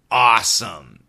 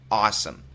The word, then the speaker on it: awesome: perfect pronunciation in America awesome awesome awesome it's an A W sound not o but a which means your tongue needs to be pushed down a awesome it's not